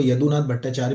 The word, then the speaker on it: यदुनाथ भट्टाचार्य: उनको यदुनाथ भट्टाचार्य भी कहते हैं। क्योंकि आप बांग्ला में पढ़ोगे तो यदु प्रोनाउंस होगा।